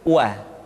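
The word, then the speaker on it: و: Selanjutnya huruf wa diucapkan dengan cara memonyongkan dua bibir kita.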